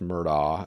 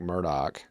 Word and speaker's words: Murdaugh: names here if you're from outside of south carolina it's alex murdoch if you're in south carolina alec murdoch and if you're in hampton it's elect murdoc them murdock's so funny